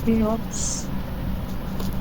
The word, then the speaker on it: Kops: Cops or KOPS anything in this file? Kops. Actually Kops is a good pro pronunciation.